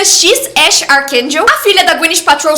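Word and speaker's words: X Æ A-12: Não dá para esquecer o nome do filho do Elon Musk, que é X AE a -1, mas que pronuncia X Ash Arkel.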